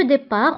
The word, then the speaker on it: départ: دونك الانطلاق هو لو ديبار، وانتبهوا بالنسبة لو ديبار كنكتبوها بالت في آخر الكلمة ولكن لا ننطقها.